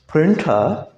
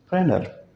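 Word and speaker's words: printer: प्रिंटा, प्रिंटा नहीं है, ये प्रेनर, टी साइलेंट।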